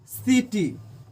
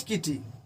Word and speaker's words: city: तो सी का उच्चारण सौ के तरह कब करेंगे? जब सी के बाद आई ई वाई, आई ई वाई अगर सी के बाद आए तो उसका उच्चारण सौ के तरह करेंगे। जैसे CITY सिटी, इसको नॉट किटी, इसको किटी नहीं पढ़ेंगे, सिटी पढ़ेंगे।